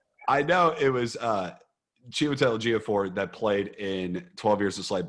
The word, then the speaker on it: Ejiofor: Ejiofor.